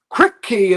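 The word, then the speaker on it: Kripke: Crypt key is how you pronounce that. He's like the crypt keeper. He's crypt key.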